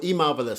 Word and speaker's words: Emarvellous: exactly um so so e marvelous so it's e e how you pronounce it how you spell it Vol one so so just e and the word marvelous together yeah yeah good good